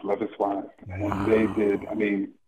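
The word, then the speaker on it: Loveis: love is wise yes their name is it's pronounced love is and they did I mean it's just an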